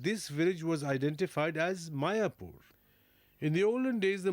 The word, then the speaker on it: Mayapur: the fact that this village was identified as Mayapur. In the olden days, the Muslims used to call it Miapur. Although there is a difference in pronunciation, the similarity is obvious.